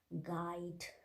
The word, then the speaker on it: guide: not pronouncing letter u so in that case letter u is silent you considered as silent examples are guide gaze good guest right